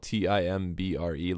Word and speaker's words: timbre: So timbre, for those of you who don't know, that's spelled Timbre. Looks like timber, sometimes pronounced timbre. Just, depends on your country of origin and your pronunciation of those characters.